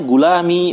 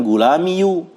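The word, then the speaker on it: غلامي: merupakan pasangan dari kasrah, makanya ee diucapkan gulami bukan gulamiyu tib.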